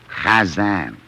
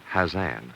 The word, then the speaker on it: Chazan: Chazan. Hazan? No. Chazan. Ha. Ha. Hazan. No, look. You must first take the sound and roll it up like a little ball, and then flip it out like this.